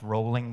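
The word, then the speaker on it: Rowling: the UK and JK it's pronounced rolling by the way if you pronounce it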